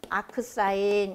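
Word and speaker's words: arcsin: 만약에 사인을 활용한다 그러면 각 세타는 이렇게 표현하는데 요거는 아크라고 읽어주시면 돼요. 아크 사인 이렇게 읽어주시면 돼요.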